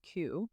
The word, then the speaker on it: cwm: So they moved to this neighborhood, Tremaku, because CWM is pronounced like Q from my research.